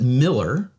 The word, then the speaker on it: Mueller: native Texan but uh half the population pronounces it Miller and half of them Mueller so yes okay well